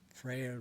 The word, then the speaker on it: Freyr: But this time of August is historically a time to honor Frey, and Freyr, as you may pronounce it in Old Icelandic or Old Norse. You can also say Frey or Frey. This king of the world,